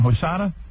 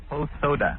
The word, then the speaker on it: Hosoda: How do you say your last name? Hosada? Hosoda. Hosoda.